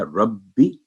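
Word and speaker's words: رَبِّيَ: تو یہ ہے ربی, با پر سٹریس دے کے تشدید ہے, اور بی کی آواز 1 سیکنڈ, کیونکہ یا پر آگے فتح ہے, اگر ہوتا جزم پھر تھا ربی,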